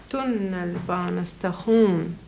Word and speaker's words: tunnelbanestation: Och då får vi tunnelbanestation. En gång till. Tunnelbanestation. Ja, här är konsonantljudet långt, va?